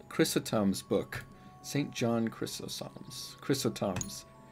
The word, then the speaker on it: Chrysostom: John Chrysostom's. Is that Chrysostom? Chrysostom's book. St. John Chrysostom's. Chrysostom's. Yeah, wow. Great pronunciation.